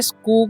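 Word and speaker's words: school: और SCH है तो यहाँ पर CH का उच्चारण क्या करना है, क करना है, ठीक है। तो यहाँ पर इसे क्या पढ़ेंगे, स्कूल पढ़ेंगे, ठीक है।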